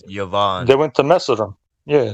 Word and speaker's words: Yavan: king of yavan yeah some people translate it Javon but it's yavan yeah Yovan yeah Yan